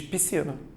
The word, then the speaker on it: piscina: tenho SC mesmo cuidado quando você fala naturalmente você diz piscina duas letras fazendo um único som Mas você olhando para a palavra você tende a fazer o quê piscina é isso que